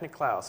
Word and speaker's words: Nicklaus: Is that how you pronounce his last name? Yes. Jack Nicklaus.